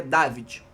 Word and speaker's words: Davide: Eu vi aí a pronúncia em italiano dele, dizem que é David.